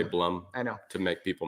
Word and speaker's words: Blum: really solid and durable bloom bloom pronounced Bloom don't say blood I usually say Blum I know to make